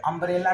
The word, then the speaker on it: umbrella: अम्ब्रेला का pronunciation अ से शुरू हुआ, उच्चारण अ है, इसलिए हम इसके पहले एन का इस्तेमाल करेंगे, एन का प्रयोग करेंगे।